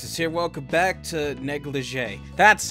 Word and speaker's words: negligee: up everyone kudex is here welcome back to negligee that's how you pronounce it I knew I heard or seen